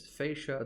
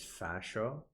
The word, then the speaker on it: fascia: The English pronunciation is fascia. The American pronunciation is fascia.